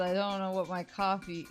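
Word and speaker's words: Ko-fi: don't know what my coffee my Kofi how do you pronounce it? Coffee.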